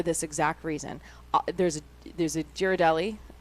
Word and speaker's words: Ghirardelli: There's a Ghirardelli.